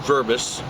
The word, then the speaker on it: Verbos: make it easy for them say your name spell it for people my name is verbis do they have to write or